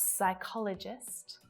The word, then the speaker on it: psychologist: We've got psychologist, coup, and receipt. We don't hear that P at all, absolutely not, at the start, in the middle, or at the end of a word.